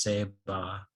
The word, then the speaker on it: Ceiba: The word Saiba comes from a Taino word pronounced Seba.